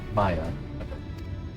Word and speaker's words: Ixmaya: It's Maya. That's how you pronounce it.